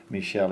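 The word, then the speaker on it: Míchel: With this budget, probably means how good of a manager Michel is. Is that the way to pronounce it?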